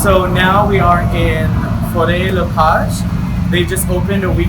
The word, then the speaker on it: Faure Le Page: You know, you said in English, you said for forest. Yes. Take off the ST. Faure. I told him the pronunciation. Yeah. Faure. Faure Le Page.